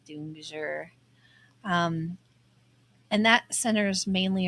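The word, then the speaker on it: Dongzhi: I would have said dongi. Yeah, I would have too. But it says in Mandarin the pronunciation would be doomjour.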